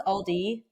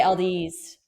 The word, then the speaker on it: Aldi: I guess I'm like my dad and I just You know how it's Aldi? I say Ald's like my dad.